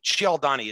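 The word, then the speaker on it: Cialdini: persuasion by an expert called uh robert shield ciao donnie it's spelled c-i-a-l-d-i-n-i he has this great little video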